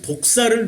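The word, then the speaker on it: δόξα: 영광, 이 독사를 누리고 계십니까? 독사가 아니고, 뱀 독사가 아니고 헬라어 발음이 독사예요.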